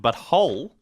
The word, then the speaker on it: But Whole: Park game, the Fractured But Whole. He's like, I'm sorry, what? I had to spell it out for him. It's just like, it's the butt, Butwhole.